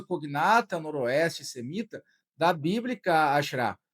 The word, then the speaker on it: Asherah: O termo Axera, a forma mais correta da pronúncia na hebraica é Asherah, é recorrente na Bíblia.